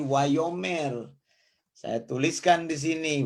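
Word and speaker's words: וַיֹּאמֶר: Jadi wa, yo. Kemudian di sini apa? Ada kata apa? Ada mem di sini. Tambah hataf, segol. Mem tambah di sini jadi me. Kemudian tambah res. Jadi wayomer.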